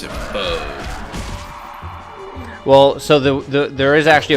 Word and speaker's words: pho: Pronounce that pho. I pronounce it pho.